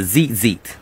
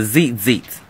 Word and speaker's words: tzitzit: So a next form of a fringe here is a tzitzit. This is a tzitzit. It's spelled T-Z-I-T.